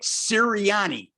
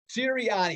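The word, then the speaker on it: Sirianni: coach because i'm italian i gotta correct you nick please do sir nick ciriani siriani i'll get you these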